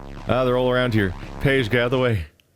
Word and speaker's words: Pey'J: His name is Pey'J. It's spelled very unusually, so it took me a few episodes to catch on to the fact that his name's literally just Pey'J, but now I'm thinking about it.